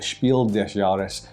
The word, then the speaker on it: Spiel des Jahres: is our history of the winners of the Spiel desaris and I said it right this time I